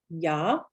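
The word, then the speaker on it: ja: the letter j so the letter j in german is almost always the u sound so examples really common the word for yes is yah so ya and the word for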